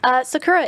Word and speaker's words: Sakura: Sakura, is that the correct way to say your name?